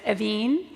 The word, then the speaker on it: Evin: is silent um but the American pronunciation which I'm perfectly happy with is a little more elongated it's evine and the last name